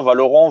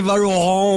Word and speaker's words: Valorant: Franchement, tu peux le dire à la française, en mode bon français, Valorant, ou... C'est vrai que moi, je mets un petit peu plus de forme Valorant, mais je suis même pas sûr, honnêtement, je pense que c'est si tu veux, comment dire, la prononciation officielle, vu que c'est le staff de Riot qui le dit comme ça.